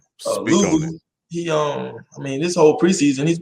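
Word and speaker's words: Luvu: That's how you pronounce it. Louvu.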